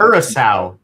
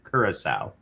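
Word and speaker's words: Curaçao: How to pronounce Kura? Trinidad. Kurissau. Kurissau is the correct way to say it. Kurissau, Kurissau, Guadalupe, US Virgin Islands.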